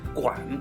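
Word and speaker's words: 脘: 中管这个管字啊，很多人会念成碗啊，它是一个肉字边一个完成的啊，这个完字，这个字呢念管，就是胃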